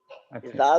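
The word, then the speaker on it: ذال: স্পষ্ট শোনা যায় না তো জাল যখন বলবেন তখন জিহ্বার আগাটা যেন দাঁতের আগার সাথে লাগে জিহ্বার আগাটা সামনের উপরে দাঁতের আগার সাথে লাগবে তো উচ্চারণটা কেমন হবে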